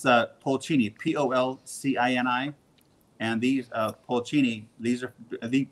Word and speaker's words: Polcini: This is Polcini, and they spell it P-O-L. Yeah, that's probably a few hundred, isn't it? Yeah, it's Polcini, P-O-L-C-I-N-I.